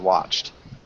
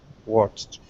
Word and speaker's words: watched: Facebook and WhatsApp okay remember watched is more with the T sound watched watched good okay really nice